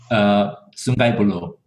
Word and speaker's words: Sungai Buloh: It was to Singapore twice, and I went to correct my pronunciation, please, but Sungai Buloh. Sungai Buloh.